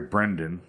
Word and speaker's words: Brendan: gain the affection of a beautiful coworker Elliot Brandon Fraser sorry Brendan I always it is Brendon Brendan Fraser I'm